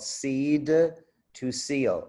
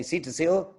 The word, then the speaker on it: seed to seal: the company's process called seed to seal and you have to pronounce it if you say see to seal nobody knows what you're saying and then go and